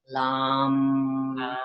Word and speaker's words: lam: So the sound for the root chakra is lam, and you would say lam, so that each syllable, it's only 3 letters, but each syllable is being enunciated.